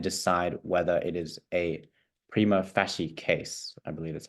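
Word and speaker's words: prima facie: prosecution's evidence and decide whether it is a prima fasy case I believe that's how you pronounced it um meaning that it is a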